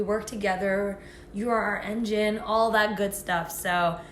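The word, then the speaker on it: ENGENE: here and it is engine spelled e-n-g-e-n-e yes so there's is this a dublin tundra but um yeah it's pronounced like engine because you know the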